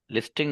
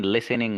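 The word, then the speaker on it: listening: लिस्टिंग नहीं, लिसनिंग होता है, ठीक है।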